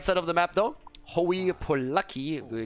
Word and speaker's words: Hooye Poluck: of the map though oh you poor lucky how this is apparently pronounced with the will queue